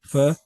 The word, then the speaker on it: Pho: Am I pronouncing the Pho?